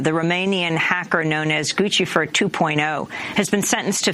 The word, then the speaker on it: Guccifer: I think it should be Gucci. Guccifer, like the shoes.